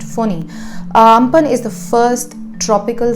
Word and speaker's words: Fani: Amphan is written Amphan but is pronounced Amphan, just like Cyclone Foni was written Fani but is pronounced Foni.